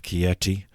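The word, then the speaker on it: Chieti: church karafa was ordained bishop of kieti in 1505 that's spelled c-h-i-e-t-i but for reasons that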